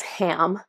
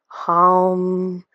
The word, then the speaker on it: HAM: it's a word that looks like it says ham it's h a m but it's pronounced more of a h that kind of